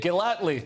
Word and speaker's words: Gellatley: I'm joined now by the founder and director of the vegan charity Viva, Juliet Gellatley. Is that how you pronounce it, Juliet? Well done, you got it right first time.